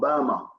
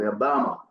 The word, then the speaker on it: Beyma: the area Ohio Indiana was called BMA that's the way that you guys pronounce it BMA and it was we